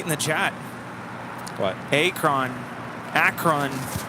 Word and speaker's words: Akron: I certainly have that Akron Akron rhymes with apron now forget it Akron